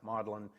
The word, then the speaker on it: Magdalen: The Magdalen Papyrus, and I know it looks like it sounds, you should say Magdalen, but that's American, and British pronounce it Magdalen, just to trick Americans.